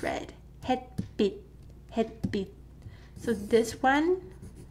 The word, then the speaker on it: 햇빛: So this is 햇빛, 햇빛. So the more correct romanization would be bit, but without t sound. Bit, 햇빛, 햇빛. That's how it's read. 햇빛, 햇빛.